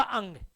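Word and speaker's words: ङ: इसको अड़े नहीं बोलना, इसका उच्चारण होगा अंग।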